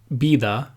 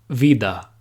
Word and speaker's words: vida: always pronounced like VA it is very common in Spanish-speaking countries to pronounce the V like a b and say Bida instead of Vida for example in order